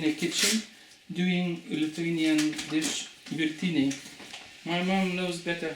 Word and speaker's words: Virtiniai: Good pronunciation. Hello, James. Hi. We're going to make Lithuanian dish. Awesome. We call it Virtiniai. Virtiniai means boiled ones.